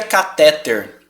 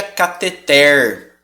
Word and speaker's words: cateter: em R é mas essa palavra eu vou adiantar para você ela é uma oxítona sabia é ela é uma oxítona a gente não pronuncia cateter a gente pronuncia catheter Ixi não sabia a